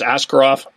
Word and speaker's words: Askarov: I was going to mispronounce the Russian goaltender. That's why I didn't use his name, but it's Askarov.